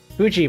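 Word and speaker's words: Fui: uh reactive Fuji Tech Fuji by the way even though it's spelled f UI um really really oh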